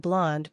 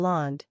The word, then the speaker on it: blonde: be Brun or BL blonde in both cases the final consonant should be barely pronounced justu blonde means I